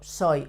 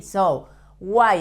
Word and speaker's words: soy: Yo soy. When an Y is at the end of a word in Spanish, you have to pronounce it as a Spanish I.